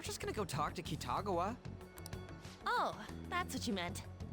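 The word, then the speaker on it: 喜多川: We're just gonna go talk to Kitagawa.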